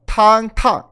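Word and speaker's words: 烫: E o quarto tom, que ele é mais brusco, ele faz tá. Esse é o que seria quente, pelando. Sim. Então, se a gente fala que a sopa está pelando, a gente fala tang.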